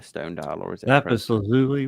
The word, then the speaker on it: lapis lazuli: is it a stone dial, or is it lapis lazuli? Right? Is how you pronounce that? I forgot. Yeah, lapis lazuli.